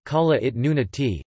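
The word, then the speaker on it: Kalaallit Nunaat: Greenland, Greenlandic, Kalalit Nunat, pronounced Kalalit Nunati, Danish, Grønland, pronounced N-Land, is an autonomous constituent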